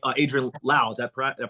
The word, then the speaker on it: Adrienne Lau: And I'm like, Adrienne Lau. Is that did I pronounce it right?